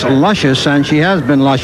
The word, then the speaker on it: Lucious: Hearst the six horse spell de Lucia's pronounced luscious and she has been